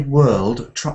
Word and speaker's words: world: Now, when you say world, that's a difficult word to round off quite nicely, and there's different ways of saying it. I like the Scottish way of saying this word. They say, Scotland, the best in the world. But I say world, world. But try to say it in a way that I can understand the word.